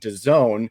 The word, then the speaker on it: DAZN: probably been living under a rock and second the zone um that's spelled d-a-z-n is the best platform for anybody